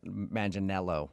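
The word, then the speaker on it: Manganiello: Uh, because we talked to him and he told us that a lot of people say he looks like Joe Mangel Manelo, right?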